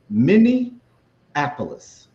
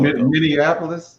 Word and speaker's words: Minneapolis: I think you I think you you had a T in Minneapolis while Minneapolis. Minianapolis. Sound like you put a T.